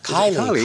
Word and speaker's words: Kylie: Is it Kyle Jenner? Kylie.